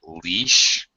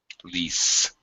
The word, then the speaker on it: lease: uh Moving On Monica don't say leash you should say what leas lease yeah with s sound lease uh okay all right